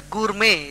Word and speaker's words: gourmet: food and drink whereas a gourmet g-o-u-r-m-e-t the tea is silent a gourmet is a